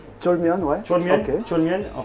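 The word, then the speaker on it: 쫄면: Donc c'est, tu vas me corriger parce que moi les prononciations coréennes c'est un peu dur Ok. encore pour moi. Donc on va faire le jolmien. Cholmyeon, ouais.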